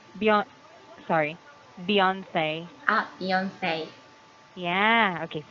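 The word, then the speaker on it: Beyoncé: Yes, and recently I'm running the dance of Beyonce, and Beyonce, Beyonce. yes, Beyonce. Beyonce, and I Okay. forgot Say, the say. title. Yes, say, Beyond, sorry. Beyonce.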